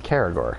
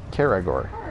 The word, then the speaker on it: Caragor: How is it pronounced Caragor? It's Caragor. Caragor? Caragor.